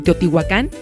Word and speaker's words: Teotihuacán: oeste con Tecámac nombre de San Juan Teotihuacán con acento prosódico en la última sílaba fue el que subsistió